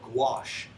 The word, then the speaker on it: gouache: in France that's called gouache. I don't suggest you Google search it because it's not spelled anything like how it's pronounced. But gouache is literally watercolor that's very, very opaque.